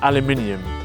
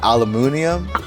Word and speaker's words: aluminium: And you guys pronounce it aluminium? In American English, I think it's like aluminum, which sounds quite cool, but you're missing out all these letters.